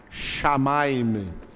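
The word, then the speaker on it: שמים: Shamaim. A palavra céu em hebraico se pronuncia shamaim.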